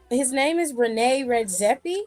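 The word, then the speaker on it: René Redzepi: Rene Redzepi.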